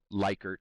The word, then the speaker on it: Likert: So a Likert scale, like 1 to 5, it's also Likert, it's choice of how you want to pronounce it.